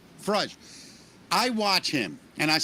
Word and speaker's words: Farage: The guy um I'm going to mispronounce his name. Is it Farage? Nigel Farage. Farage.